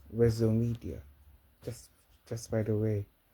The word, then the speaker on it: Wezzomedia: CEO res media media a lot people saying it wrong but it's still sounds nice but the real pronunciation is res media just just by the